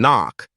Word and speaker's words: knock: confuse learners for example in knock the K at the start is not pronounced while in Island the